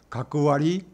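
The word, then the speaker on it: 学割: 그거는 훈독과 훈독을 했지만, 가크와리, 이거는 음과 훈.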